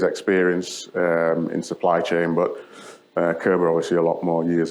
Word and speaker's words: Körber: If you're not sure how to pronounce it, it's pronounced Körber, even though everybody calls it Körber.